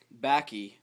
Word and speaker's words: Bakke: to talk about the University of California versus baky baky baky Allan baky baky it's pronounced baky this Caucasian white man helped pave the way